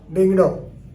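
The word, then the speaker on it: Diengdoh: Chief Justice of Meghalaya, you know, is Sanjeev Banerjee, but they pronounced as Sanjeev, S-A-N-J-I-B, Sanjeev Banerjee, and W.D. Dingdo, D-I-E-N-G-D-O-H, Dingdo.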